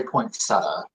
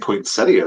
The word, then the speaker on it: poinsettia: How do you say it? I I say poinsetta. I don't know why. I think poinsettia is probably appropriate. I don't know.